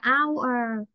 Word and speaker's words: hour: nó bị âm câm, ví dụ cô có từ hour, từ này đọc là hour thì chỗ này mới dùng an hour.